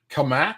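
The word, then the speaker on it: Cammack: Is it Kamak? Is that how she pronounces that? I don't want to get that wrong. Kamek, Cat Kamak.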